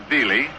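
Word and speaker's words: Veale: Bob Veely spells his name V-E-A-L-E and pronounces it Veely.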